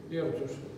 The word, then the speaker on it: Эрдёш: Ну, здесь непривычный для русского языка произношения, кстати, буква Ё без удара, Эрдиса.